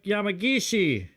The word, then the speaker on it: Yamagishi: We got Yamagishi. Am I pronouncing that right?